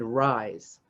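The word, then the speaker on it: Rhize: serves on the boards of faithful america and rise that's spelled r-h-i-z-e serves on the core team of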